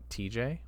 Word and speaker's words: TJ: And with all that said, I am TJ, rhymes with relay.